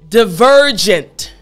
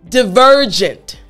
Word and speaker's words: divergent: excellent so after me divergent good last time divergent excellent so this is how you pronounce the word properly making sure your front teeth on your bottom lip for the v sound now here's the example